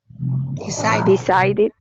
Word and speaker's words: decided: Decided.